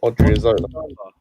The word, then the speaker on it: Odriozola: How do you pronounce the other guy's name? Well, Odriozola.